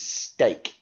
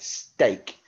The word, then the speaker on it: steak: sound and this one that word is steak you're absolutely right steak and again that's got the e a making the a sound rather than the e sound now we're going to